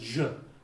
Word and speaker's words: y: The letter Y in Argentina is pronounced je.